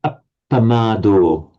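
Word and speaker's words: appamādo: da da, and also can you pronounce it with a very distinct doubling of the P? Appamado. Appamado. Try to make the final O a bit less English.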